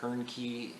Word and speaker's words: Hoernke: As always, I am Hoernke, rhymes with turnkey, and this has been a production of Zero Value.